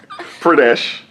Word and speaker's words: Uttar Pradesh: You s- Uttar. Say it again. Uttar. Uttar Tar. Pradesh.